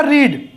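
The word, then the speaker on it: read: अब जैसे मैंने आपसे कहा, देखिए यहां पे मैंने लिखा रीड और स्पेलिंग सेम है, रीड और रीड, लेकिन बोलेगा कैसे, रीड, रेड, रेड बोलेगा ऐसे, लेकिन स्पेलिंग सेम रहेगी।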